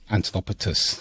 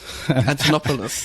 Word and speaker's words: Antonopoulos: um I always have a difficult way of pronouncing his name antonopotus Antonopoulos yeah and yeah that guy I was listening